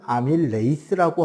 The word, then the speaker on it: 아밀레이스: 소화효소들 이름이 원래 침에 들어있는 건 아밀라아제였는데 지금은 아밀레이스라고 하고 있죠. 이거는 07년 개정 때 바뀌었으니까요. 벌써 한 20년 가까이 됐네요. 바뀐 지가. 철자는 어떨까요? 그대로예요. 아밀레이즈. 그래서 한국어로 아밀레이스라고 써요.